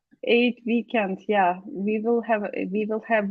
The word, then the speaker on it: Eid: Oh, so it's Eid weekend or Eid weekend. I'm not sure how to pronounce it, correct? Yeah, it's eight weekend.